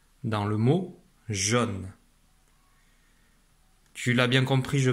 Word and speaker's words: jaune: Donc dans jaune, j'entends bien le son O, mais je ne vois pas la lettre O.